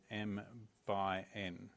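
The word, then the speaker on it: m × n: or order em and this is pronounced as M by n now it's not n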